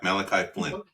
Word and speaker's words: Malachi Flynn: the Knicks received anunobi Malachi Flynn is that how you pronounce it Mal Malachi Malachi Flynn that's it yeah yeah yeah I've heard